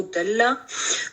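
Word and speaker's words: ضل: root word होता है उर्दू में हम जलालत जो है वो गुमराही के लिए कहते हैं और अरबी में हम इसको दत प्रोनाउंस करते हैं तो दल्ला वो गुमराह हो गया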